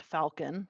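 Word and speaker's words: Falkin: the next one is f-a-l-k-i-n pronounced Falcon that one's the most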